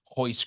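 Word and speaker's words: Royce: Anytime a Brazilian has an R at the beginning of their first or last name, it's pronounced H. Hoist Gracie, Henzo Gracie, all these guys, right?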